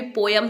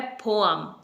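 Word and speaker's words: poem: नहीं था मैं भी पोयम ही बोलती थी बट यह रॉन्ग प्रोनंसिएशन है इसकी जो करेक्ट प्रोनंसिएशन है वो है पोम पोम य साउंड नहीं है यहां पर अ साउंड है बीच में पोम यानी कविता कविता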